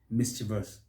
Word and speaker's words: mischievous: and in a way people put an extra syllable and try to stressing so mischievous mischievous wrong is simply mischievous how about this one